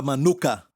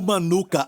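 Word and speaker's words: מנוחה: aqui é no hebraico a palavra Manuca tem até um mel com esse nome maluca certo mesmo a pronúncia na nuca certo Manuca Esse é o Manuca há um lugar de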